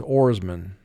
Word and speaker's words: oarsmen: very often in english but the word is oarsmen and this completes the dictation of words from lesson 407.